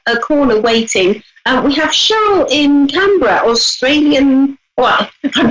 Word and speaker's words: Cheryl: Cheryl. Like almost like with an S rather than the C.